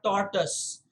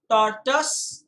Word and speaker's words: tortoise: and a tortoise guys there are two pronunciations and both of them are correct uh here's another example where i say both are correct okay tortoise and tortoise i personally prefer tortoise but if you say tortoise on the basis of the spelling it isn't wrong it is correct if you say tortoise